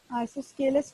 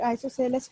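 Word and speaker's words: isosceles: आइसोस्केलस triangle और आइसोसेलस triangle, इसको दोनों प्रोनाउंसिएशन से बोला जाता है।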